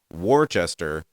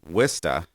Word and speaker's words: Worcester: though i like pronunciation warchester as it's spelled the w-o-r-c-e-s-t-e-r uh or the english spelling has an h in there uh pronounced wista just doesn't make any